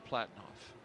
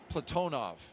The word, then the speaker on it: Platonov: and Rosscosmos cosminaut Alleg Platinoff. Platonov. I corrected my pronunciation yesterday and I slipped back into Americanizing.